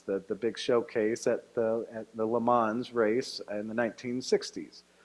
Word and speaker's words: Le Mans: big showcase at the Le Mans race in the 1960s, or Le Mans, if I'm going to say it correctly.